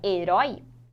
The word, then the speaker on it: herói: Em herói, olha lá a separação. Herói. Herói é a última sílaba. Então, em herói, o oi está na oxítona.